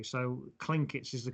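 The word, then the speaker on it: Tlingit: us of in the articles is how you pronounce it correctly so klinketz is the correct name for these native americans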